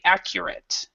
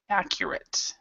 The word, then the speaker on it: accurate: This last part, so we'd say accurate, accurate.